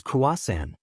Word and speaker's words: croissant: But I believe the pronunciation is Kuasan.